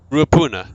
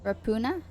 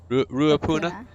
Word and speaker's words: Ruapuna: Yeah, how do you pronounce that? Name of round 9. Ruapuna. Rapuna? Ruapuna.